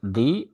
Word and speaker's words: the: in the area, THE, the way how we want to pronounce the word thee or thy, because the next word starts with a vowel sound, area. So you have to pronounce the like thee or thy.